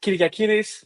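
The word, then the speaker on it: Kyriakidis: So I'm Kyriakiris. This is how you will pronounce this.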